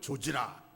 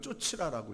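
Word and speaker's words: 좇으라: 여기 사랑과 화평을 조지라, 조지라고 읽는 게 아니고 쫓으라라고 읽으시네.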